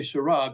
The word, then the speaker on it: Sarah: Sarah Sarah but we we say Sarah because that's what it looks like in English but I always say Sarah because it rhymes with herah I love it love